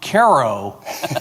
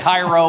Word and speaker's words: Cairo: Uh thank you for correctly pronouncing my hometown Caro, Illinois correctly. So many people get Cairo or Cairo or whatever.